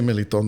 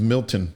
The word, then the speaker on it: Meliton: i said mel because if i say meliton they're not going to pronounce it the closest they're going to get to is milton everybody knows milton berle